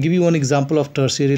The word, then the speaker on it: tertiary: period dear students now above i have uh pronounced that theory that is uh do the correction in that that is called tertiary t-e-r-t-i-a-r-y and tertiary means uh like you can